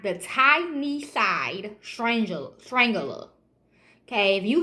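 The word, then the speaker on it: Tyneside: at that time aka the time not the tiny side stranger Strangler okay if you hear you say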